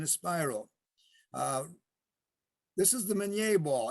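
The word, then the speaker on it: Minié: spiral this is the menier ball everybody calls it mini ball and the correct pronunciation is menier because it was invented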